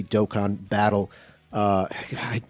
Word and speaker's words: Dokkan: dokkan battle uh i i hate saying the word dokkan it doesn't feel good to me to say i like saying doke in battle i know now i know that it's the wrong pronunciation but even still anyway